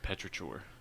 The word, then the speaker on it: Petrichor: That's like you can't even sound it out. It's not phonetic. It's Petrichor.